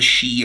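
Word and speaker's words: sidhe: The sea, the shei, it's pronounced the shei are like the high elves.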